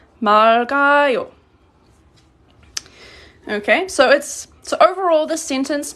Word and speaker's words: 맑아요: But when it's pronounced in 맑아요, you pronounce the lil and then you add, it's pronounced like this when you say it in present tense. This is pronounced 맑아요.